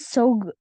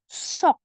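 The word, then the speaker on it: 속: Jadi bukan sog, bukan pakai G terakhirnya, tapi sok. Semua dibaca K.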